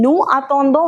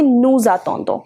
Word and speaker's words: nous attendons: But when such words are followed by a word which start with a vowel, you will pronounce the ending of this word. So it becomes, instead of saying nous attendons, we say nous attendons.